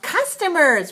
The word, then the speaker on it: customers: in the list is customers right how many syllables customers three syllables right where's the stress on one so we say customers and the last word